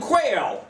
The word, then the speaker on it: Quayle: my name is dan quayle it's just like the bird but not spelled the same okay this is maryland